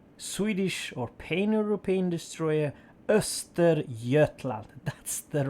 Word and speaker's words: Östergötland: the tier ix swedish or pain european destroyer esther jetlag that's the right word for the name yeah